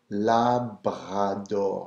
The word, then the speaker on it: Labrador: Chien, and then a little different pronunciation here on Labrador, Labrador. So you're rolling the R.